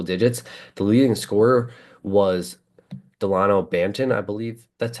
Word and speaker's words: Delano Banton: The leading scorer was Delano Banton, I believe that's how you say his name. Yep, Delano Banton.